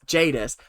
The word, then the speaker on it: Jadis: Jadis that I wasn't Jadis is it Jadis yeah oh god I've been saying it wrong all these years Jadis there was a big